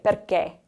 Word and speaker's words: perché: The next one, we have the accento acuto, the closed accent. So we want to close that E sound off a little bit more. So we say perché.